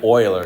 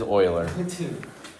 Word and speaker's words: Euler: got oer no none of those are correct Oiler it is Oiler it is Oiler what I don't I hey